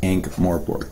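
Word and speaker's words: Ankh-Morpork: Yeah, for everybody on stream, it is Ankh Morpork. You can call me Ankh if you want. Just know the proper pronunciation is Ankh.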